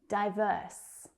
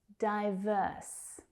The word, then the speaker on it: diverse: Diverse. Diverse. So that second syllable is the stressed one.